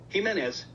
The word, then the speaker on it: Jimenez: once and Pro and Jimenez Jimenez um how do you slow that down humanist Jimenez Jimenez Jimenez Jimenez Jimenez humanist Okay so the J is pronounced like H is she Spanish I